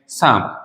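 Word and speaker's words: psalm: जैसे मैंने लिखा नेक्स्ट साम साम में ऐसा नहीं लिखना है एस एल एम लिख दीजिए नहीं इसका हमने प्रोनंसिएशन नहीं किया बट इसको लिखना जरूरी है साम हो गया न्यूमेटिक्स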